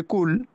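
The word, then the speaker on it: كُل: কুল শব্দটাকে একটু ভিতর থেকে উচ্চারণ করতে হবে, কফ কুল। আর কুল শব্দটা উচ্চারণ করতে হবে হালকা ভাবে, কুল।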